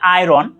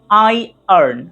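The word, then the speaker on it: iron: 4 নাম্বারটা খুবই মানুষজন ভুল করে, তারা বলে আয়রন, বাট the right pronunciation is আই আর্ন। খুবই সহজ, আই চোখ আর আর্ন, আই আর্ন, আই আর্ন। আর এখানে আমেরিকানরা একটুকে জোর দিয়ে বলে আরটাকে, আয়র্ন, আয়র্ন, আয়র্ন, আয়র্ন। আই আর্ন ব্রিটিশ এভাবে বলে, আর আমেরিকানরা বলে আয়র্ন, আয়র্ন।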